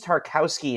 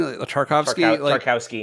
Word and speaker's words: Tarkowski: But I mean, I will say, from an Everton fan's perspective, Tarkowski, I think is his name, Tarkowski, yeah. I think they're pronouncing the W as a V.